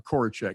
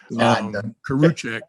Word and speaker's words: Korachek: to start with dr korachek and i'm butchering your name again and you told me it didn't matter but it always does career check is actually how you pronounce it and um i'd like